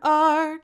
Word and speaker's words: are: know the sight word r can you spell it where you are it starts with an a and then there comes an r and don't forget the e he's as silent as can be let's spell it a